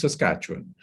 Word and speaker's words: Saskatchewan: find it difficult to pronounce it so it's pronounced saskatchewan it is a central province like i said